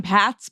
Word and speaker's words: Pat: They add an extra s to the end and I was like usually I have to tell people not to say Pratt, but I haven't gotten Pats before.